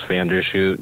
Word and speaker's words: Vanderschuit: My full name, Vandershoot. You probably can't spell that, but LucasVanderschuit. UAT. You would say O-O-T.